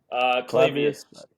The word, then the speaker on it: Clavius: So, Clavius, is that pronounced correctly? Clavius.